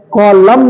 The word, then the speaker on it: column: Okay, COLUMN, कॉलम नहीं है, ये है कॉलम, COLUMN, कॉलम।